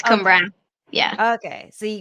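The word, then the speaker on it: Cwmbran: How do you say the place that you're from? Cumbran. Cumbran? Okay, that's what I thought, but the W was fucking me up. I wasn't sure. The W is like a U.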